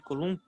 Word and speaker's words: Coulomb: Então vocês colocam: trata-se lei de Coulomb. O B é mudo. Trata-se do princípio. É lei de quê, tia? É lei de Coulomb?